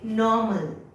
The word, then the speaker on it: normal: Now here it is NOR, R, but that R pronunciation is absent. Okay, so we say normal. What do we say? Normal. The R is there, but it is absent while speaking. The sound of the R is absent.